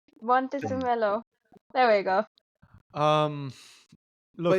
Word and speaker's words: Montezemolo: If Luca can It really pronounce came Vish's up. name, I'll call it even. Yeah. Luca di Exactly. Montezemolo. Montezemelo.